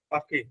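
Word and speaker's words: Paris: important হচ্ছে মানে স আপনি প্যারিসটা কিভাবে উচ্চারণ করলেন পাখি পাখি পাখি পাখি পাখি আচ্ছা তাহলে ওরা কি পাখি বলে প্যারিসকে ফরাসিরা আচ্ছা ওরা তো বর্ধকে বলতে বক্ত বলে না আচ্ছা আচ্ছা ওকে আপনার হচ্ছে পাখি বলে আপনি অনেক সময় যে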